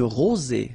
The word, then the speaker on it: rosée: Une rosée. Final E not pronounced.